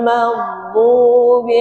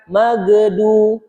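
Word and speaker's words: المغضوب: Kemudian ghairil maghdubi alaihim waladin. Nah, di situ ada huruf g, huruf dhad dadd, maka sempurnakan ghairil. Huruf gain itu tidak boleh mantul, bukan magdu. Salah tuh. Jadi magdu magdu tebal.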